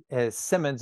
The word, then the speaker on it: Simonds: It's just my name, Simonds. It's spelled like Simon, so S-I-M-O-N-D-S, .com.